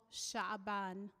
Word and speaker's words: Shaban: Muslims are currently in the lunar month called Shaban that's spelled s-h-a-b-a-n-shaban and many Muslims utilize this time